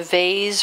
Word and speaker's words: vase: actually painting let's say a vase or vase, depending on how you want to pronounce it, a plaque or